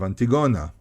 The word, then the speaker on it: Antigona: And for example, there's a very famous story called the story of Antigona. Maybe in English you pronounce it differently, but in Hebrew, called Antigona, and that's actually closer to the Greek pronunciation.